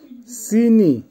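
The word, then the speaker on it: синий: সিনি, সিনির অর্থ হবে নীল, উচ্চারণ হবে সিনি।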